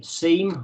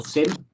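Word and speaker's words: SIEM: it is a both a seam or sim and depends where you are and how that's pronounced um so it's a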